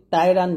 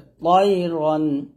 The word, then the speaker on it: طيرا: এখানে আমরা অনেকে তকে তা উচ্চারণ করি, তাইরান বলি, তা বলা যাবে না, এটা ত বলতে হবে। তয়রন, তয়রন আবাবিল, তয়রন আবাবিল একসাথে।